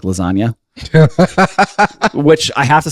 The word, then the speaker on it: lasagna: move in silence like lasagna. Which I have to say is actually an incredible line. Yeah. Because the G in lasagna is silent.